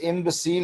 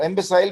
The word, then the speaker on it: imbecile: ये इम्बेसील होता है, वेरी गुड। इम्बेसाइल भी होता है बेटा, दोनों प्रोनाउंसिएशन ठीक है इसकी। जो इम्बेसील है वो भी ठीक है, इम्बेसाइल अमेरिकन है, ये दोनों ठीक है।